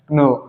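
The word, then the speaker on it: know: थोड़ा साउंड होता है नो नो नो ओ की जो मात्रा आती है व के को लेकर चली जाती है जिसकी वजह से हम य पर के साइलेंट लेटर हो जाता है हमारा नो नो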